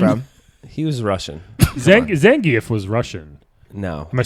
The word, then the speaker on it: Zangief: Zangief was Russian.